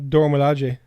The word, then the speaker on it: Dora Milaje: The Dora Milaje. Spell it for me. DORA space MILAJE. Yeah, Dora Milaje.